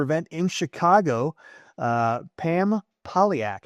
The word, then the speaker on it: Polyak: Uh Pam Piaak, how are you today, Pam?